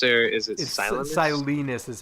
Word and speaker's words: Silenus: this chapter um so uh martin is it celenus or is it silence silence is how it's pronounced silence it's really funny that like i used to